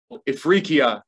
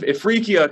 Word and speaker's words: Ifriqiya: Tunis, which in the Middle Ages was called Ifriqiya. I think that was the word Smitty stumbled on when pronouncing my book name, and that's my fault.